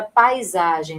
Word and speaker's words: paisagem: Então, como aqui na palavra paisagem, né? O pai, ó, pai fica na mesma sílaba, ó. Paisagem. Paisagem não é paisagem. Paisagem não é paisagem. Paisagem vai de uma vez só.